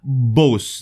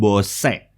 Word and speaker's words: Bose: akhir-akhir Iya ini adalah Bos quiet convert airbrush sebuah TWS kelas atas dengan peredam noise atau eight yang terbaik di dunia oke Ini bacanya Bos Bukan bosec Ya bukan bosnya bukan base nah kali ini kita